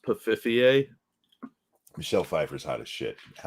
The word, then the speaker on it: Pfeiffer: costume, and not the new one, the Michelle Pfeiffer one, because that one was hot. I believe her name is pronounced Pfiffier.